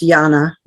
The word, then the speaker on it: Jana: okay that's okay um it's actually pronounced Jana with a J yeah okay I apologize Jana yeah um so I